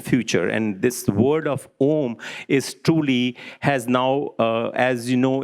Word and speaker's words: Om: And A and U, when the Sindhi takes place, it becomes an O, and it's pronounced as Om.